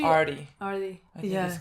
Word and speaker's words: Artie: I think it's Archie. Artie.